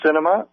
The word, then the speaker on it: Sinema: But Kirsten Sinema, it's like movie cinema, only spelled with an S, in Arizona, is an avowed non-believer.